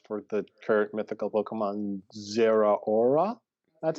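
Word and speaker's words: Zeraora: the distribution codes for the kirk mythical pokemon zera aura that's how you pronounce that look at you guys go yeah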